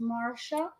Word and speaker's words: Marcia: Marcia, pronounced Marsha.